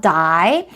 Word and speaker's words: dye: 근데 발음이 같지만 스펠링이 완전히 다르니까 주의해 보시고요. 자, 죽다, 죽음을 나타내는 그 die는 die 이렇게 생겼고요. 염색하다입니다. dye my hair 할 때 염색하다 dye는 이렇게 생겼어요. 그래서 두 가지 발음이 정말 똑같으니까 구별하시려면 스펠링 보고 생각하시면 될 것 같아요.